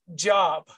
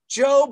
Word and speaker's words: Job: life it isn't job's job that's worth pursuing so when you read the title of tonight's class it wasn't pronounced job at all it was pronounced job a job worth pursuing